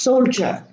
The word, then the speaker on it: soldier: but it's not rest ad is pronounced J soul juror and the I is not pronounced soldier now this symbol stands